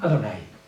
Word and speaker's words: Adonai: Adonai, lo pronuncian Adonai. Ahí no hay ninguna J, ninguna H, ninguna V, pero lo pronuncian así.